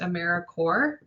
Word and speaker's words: AmeriCorps: s on the end it's pronounced americorps like core of the earth or marine corps a service night is